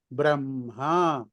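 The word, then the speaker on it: ब्रह्म: ఎప్పుడు కూడా అంటే ఎట్లా అంటే మీకు మరీని ఇప్పుడు బ్రహ్మ ఉంది, ఇప్పుడు బ్రహ్మ అని కాదు, అది ఉచ్చారణలో ఏంటవుతుందంటే బ్రహ్మ. బ్రహ్మ. ఇక్కడ హా బ్రహ్మ. కూడా, ఆ కూడా బ్రహ్మ. చిన్న అనునాసికం కొంచెం. కలిపి పలుకుతాం.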